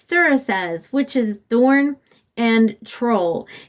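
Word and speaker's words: Thurisaz: Parasaz, you know what? That is a thorn. It's thorn and troll. I do know that. Okay. Well, actually, it's not Parasaz. It's Thurasaz because P is pronounced TH, a soft TH in that.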